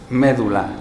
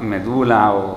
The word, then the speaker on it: médula: Si yo me encuentro, pues, médula, ¿no? Y sé que en el Siglo de Oro se pronunciaba medula, ¿no?